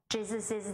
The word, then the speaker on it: Jesus's: These proper names end in S. They are pronounced with ziz at the end. James's book, Jesus's name.